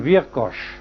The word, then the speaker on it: Viracocha: Viracocha, yo lo he experimentado 20 veces, de hacer pronunciar este nombre a un indio aymara o a un indio quichua. Todos lo pronuncian Virkosh. Virkosh.